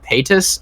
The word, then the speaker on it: Paytas: we have figured out it's pronounced Paytas and he's like Paytas